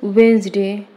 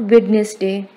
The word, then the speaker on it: Wednesday: Correct pronunciation is Wednesday, not Wednesday.